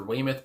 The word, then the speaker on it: Weymouth: couldn't remember if it was Tina Weymouth or Weymouth but I watched an interview before this and she pronounced it as Weymouth so there you go